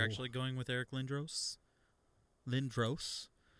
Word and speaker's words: Lindros: oh my camera went out oh darn uh you're actually going with eric lindros lynn dross is that how you say his name yeah oh really how do